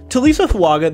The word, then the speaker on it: Taliese Fuaga: fuaga Prospect breakdown and yes it's how you pronounce his name TSA fuaga the 66 334 right tackle from Oregon state